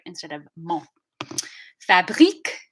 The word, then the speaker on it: fabrique: Fabrique, it's the I sound. And the k at the end is the main difference.